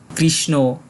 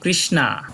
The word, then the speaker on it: কৃষ্ণ: sound আসে যেমন গল্প কৃষ্ণ কিন্তু ইংরেজি ভাষাতেই দেখা যায় একটা আর মতো সাউন্ড আসে যেমন কৃষ্ণা তাই এর সঠিক উচ্চারণ আমরা করবো কৃষ্ণ এরপরে আছে বার্স নেও